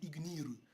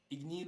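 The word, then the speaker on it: Igneel: Mais en japonais, ils disent Ignir. Et en fait, les Anglais disent eux Ignir. Ignir. Ignil ou Ignir. Ça revient au même parce que le L en japonais se prononce R, donc est-ce que c'est vraiment un problème?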